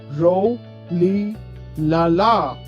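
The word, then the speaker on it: Rolihlahla: nelson's birth name was roli lala oh the name sounds difficult to pronounce hey friends let's say it together ro li lala that's correct roli lala nelson was the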